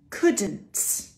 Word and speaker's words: couldn't: shouldn't wouldn't couldn't for these conditional words these ones are negative conditional words but for all conditional words we have this we don't pronounce the L sh w c the